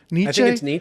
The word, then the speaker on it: Nietzsche: Friedrich Nietzsche I never had how do you pronounce nisha Nietzsche Nietzsche I think it's an EJ the cultured